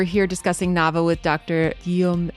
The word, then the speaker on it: Guillaume: Please correct my pronunciation of your name and let let the listeners know where you work and then we'll get started with update on the case. Yes. So that's Giam. That was perfect.